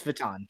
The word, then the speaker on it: Vuitton: Louis Vuitton shoes Louis Vuitton written yeah it's Vuitton Vuitton Louis Vuitton I feel like I said it and I didn't say it's spelled it's spelled like Wheaton but it's pronounced baton yeah but like there's that and I'm like